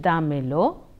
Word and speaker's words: dámelo: used in the expression D'Mello the accent falls on up of da hence it is pronounced as the mellow Don mellow compromise o